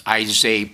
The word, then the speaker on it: Isay: of nitpicky here, but it's Isay Park, George Isay. He was a director of the department when I was working way back when. And so that's a pronunciation, just for my colleagues.